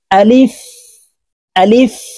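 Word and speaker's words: ألف: থাকি তো প্রিয় দর্শক এই আলিফ উচ্চারণ করার সময় টেনে পড়া যাবে না তাড়াতাড়ি করে উচ্চারণ করতে হবে আলিফ আপনারা আমার সঙ্গে বলুন আলিফ আলিফ বা বাতে এক আলিফ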